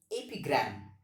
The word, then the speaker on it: epigram: that is ap gram the pronunciation of this word is ap gram what is an epigram